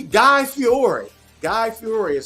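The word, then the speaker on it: Guy Fieri: away if we want to G Guy Fiore guy fiori is how you pronounce his name he has restaurants on board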